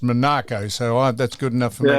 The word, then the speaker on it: Monaco: I spoke to the bloke who was the aid to Comp of Monaco and he said it is pronounced Monaco.